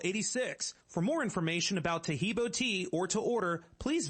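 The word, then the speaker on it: Taheebo: day orders everywhere else arrive in two days tahibo tea is great for healthy people because it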